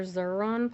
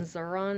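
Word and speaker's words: Xuron: are on amazon and zaron is spelled x u r o n not z okay so if you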